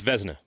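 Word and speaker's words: Vezina: By the way, we got corrected on the pronunciation of the uh of the Venza trophy. It's It's Vzna.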